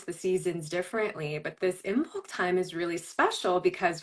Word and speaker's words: Imbolc: So tell us about how did you pronounce it? Embolic? Imbolc, Imbolc, yeah.